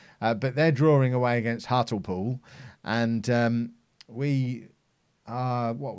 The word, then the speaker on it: Hartlepool: Or as I used to say as a child, before I was corrected, Hartlepool. Because to me, that's obviously how it's pronounced. Because that's how you pronounce that combination of letters. But apparently it's not Hartlepool, which I've never really